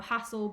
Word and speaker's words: HASSL: So HASSL, but without the E on the end.